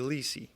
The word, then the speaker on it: Lessei: knows the story but somehow my name got spelled wrong and people pronounce it wrong so it's supposed to be Lei all right well Luke Ley the chef against Eddie